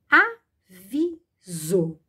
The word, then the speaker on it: avisou: Embora pronuncie a palavra com som de Z. Avisou.